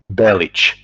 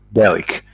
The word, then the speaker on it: Bellic: like like his name his last name should be bellich instead of Bic and it's entertaining for